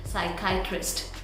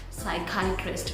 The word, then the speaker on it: psychiatrist: And the correct pronunciation of this word is psychiatrist, psychiatrist.